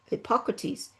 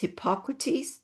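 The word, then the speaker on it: Hippocrates: A study in the May 1997 issue of Hypoc Hypocrates.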